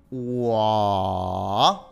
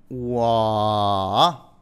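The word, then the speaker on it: 我: Wa. Tercer tono. Wa.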